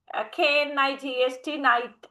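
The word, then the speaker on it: knight: But modern English um according to the modern pronunciation K is silent.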